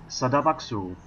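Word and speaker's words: 스타벅스: It's not really a tourist attraction, but it does have some decent shops and a sadabaksu, which is how you say Starbucks in Korean.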